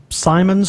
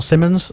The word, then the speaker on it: Simmons: Phil Phil's been on Phil Simon's or Simmons sorry Phil mispronounced your name and yeah he's he's